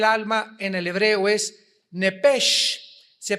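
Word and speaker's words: נפש: en el hebreo es nepesh, se pronuncia nepej. La ch en hebreo se pronuncia como J.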